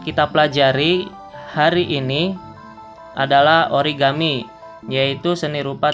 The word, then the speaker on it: origami: Hai jadi apabila disatukan cara bacanya bukan ori kami melainkan origami ia mungkin hukum tajwidnya